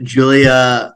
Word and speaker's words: Giulia: and regarding me Ari you get it right it's Julia yeah you did